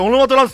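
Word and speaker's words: オノマトランス: 俺はスキル発動オノマトランスの、これオノマトランスって読むらしい、オノマ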